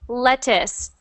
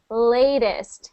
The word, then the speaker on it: latest: just I'm I'm hearing I'm hearing it sound like lettuce just like the food so I want it to sound like latest with that a sound latest latest perfect latest